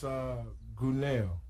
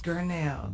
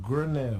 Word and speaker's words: Gurnell: No, but that's okay. I'm going to correct you. Is that okay? Go ahead. Gurnell. Gurnell. There you go. Right. Soft. It's a soft you.